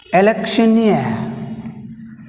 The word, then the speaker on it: electioneer: Electioneer, electioneer. In electioneer word we have stress on last syllable near.